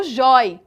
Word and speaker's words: joia: Agora, uma atenção especial à palavra joia. Percebam que a sílaba tônica, ela é a penúltima sílaba, é o jói.